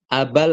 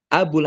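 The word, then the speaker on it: أبا: Ketahuilah bahwa Imam Abul Hasan H kalau di sini bacanya aba, kalau di atas abu. Kenapa beda-beda? Ya bahasa Arab kan seperti itu. Kadang dibaca domah, kadang dibaca fathah, kadang dibaca kasrh, kadang dibaca sukun.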